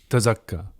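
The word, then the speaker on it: تَزَكَّىٰ: Like Tazkiya, Tazakka, right? That's a Z, right? It's not a the, it's a Z. The folks who pronounce it Zalikal, but it's a the, will pronounce the same one, Tazakka the right way.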